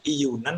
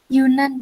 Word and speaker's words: Yunan: Yunan bacanya Iyunan apa Yunan? Yunan, Pak.